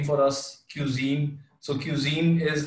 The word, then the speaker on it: Qzeen: So Cuisine is like, so it's pronounced cuisine, which is cuisine जो भी आप खा ले, लेकिन it's spelled QZ, and that's after my first name and my sister's, Zainab, her first initials.